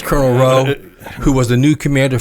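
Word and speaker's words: Rheault: Um Colonel Colonel Colonel Row or Renault or however they Well, it's a French pronunciation of Row.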